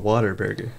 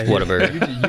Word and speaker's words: Whataburger: Is it Whataburger or Waterburger? Whataburger. Because I hear people say it differently all the time. Those people are wrong. They're wrong. It's Whataburger. You just said Whataburger.